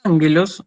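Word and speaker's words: ἄγγελος: La palabra ángelos es una palabra, fíjense que yo la separo en sílabas, angelos, o sea que la vocal acentuada es la alfa, la primera alfa. Entonces ya sé que es una palabra proparoxítona. Y va a llevar acento agudo.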